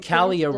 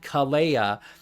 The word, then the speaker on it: Kalia: Chance dice, I keep getting Kalia wrong because I keep thinking like, oh, she did something special for it. And it's like Kalea, but no, it's Kalia.